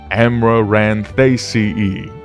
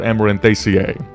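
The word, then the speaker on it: Amaranthaceae: I put pronunciation here just so that everyone can, practice and follow along. Amarantaceae or Amarantaceae.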